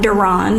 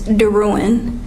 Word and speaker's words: Daruin: pronounced my name wrong my last name is not Duran it's daruin and then this key